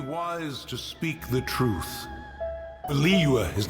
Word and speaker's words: Liyue: Tons of us say Liyue the wrong way for over a long period of time, like me, Liyue, and then change to Liyue, trying to say it right.